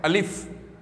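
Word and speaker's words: الف: अब पहला जो वर्ड है वो है अलिफ। अब इसका प्रोनाउंसिएशन होगा स्टूडेंट्स अलिफ, और याद रखिए उर्दू,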